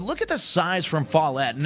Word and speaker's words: Follett: Division 2, and this state championship game between Strom and Follett is how you say that.